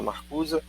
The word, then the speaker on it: Marcuse: Vocês podem ver Herbert Marcuse, se escreve Marcuse, mas se fala Marcuse, um dos representantes mais emblemáticos da escola de Frankfurt, um combatente bastante corajoso.